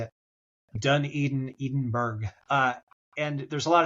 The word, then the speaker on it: Dunedin: Dunedin, Edinburgh. And there's a lot of Scottish people that came here back in the day, so there's a lot of architecture. Dunedin is south of Christchurch, also on the east